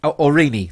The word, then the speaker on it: Aurigny: It's spelled Aurigny. Aurigny. Thank you, Al. Legendary. So Aurigny is to operate flights out of Guernsey.